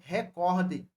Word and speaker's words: recorde: palavra na língua portuguesa é recorde recorde a palavra é paroxítona e não proparoxítona é